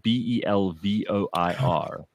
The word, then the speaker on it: Belvoir: in a place called Belvoir Castle, which is spelled Belvoir. Yeah, it's not what you think.